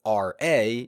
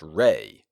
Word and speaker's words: Re: pronounced that means that the sun god commonly spelled R A and commonly pronounced ra is supposed to be spelled with an e and pronounced Reay well I'll do my